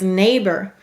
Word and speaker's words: neighbor: The first syllable is neigh. N-A. The second syllable is bore. B-or.